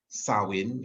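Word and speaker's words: Samhain: back from the pastures sawing it's pronounced it's spelled actually s-a-m-h-a-i-n-a but is also thought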